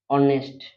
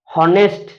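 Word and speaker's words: honest: एच ओ यू आर हला then होची कोन ऑनेस्ट एच ओ एन ई एस टी ऑनेस्ट ऑनेस्ट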